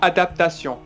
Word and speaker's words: adaptation: pause sur le mot adaptation. Il a connu beaucoup d'adaptations. Il a connu beaucoup d'adaptations. Alors, c'est difficile. On va prononcer plus doucement. Adaptation. Adaptation. Alors là, vous mettez adapou, pas de pou, d'accord ?